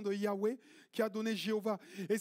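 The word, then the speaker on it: Yahweh: Je suis tenv Yahé quand on a mal prononcé ça, le tétramme Yahé, ça a donné Jéhovah. C'est une mauvaise une mauvaise prononciation de Yahwé qui a donné Jéhovah.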